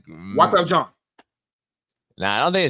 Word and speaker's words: Wyclef Jean: Wyclef John. You gotta say it like this. Wyclef John. Wyclef John, come over here. Nah. When you say it, you gotta like lean forward with it. It's Wyclef John.